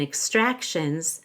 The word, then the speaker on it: extractions: plus l actual extractions again in extractions the x is a k s we stress the a because of the i o suffix the ti makes an sh sound and the S at the end is actually a z because the S is following an n extractions the dentist drill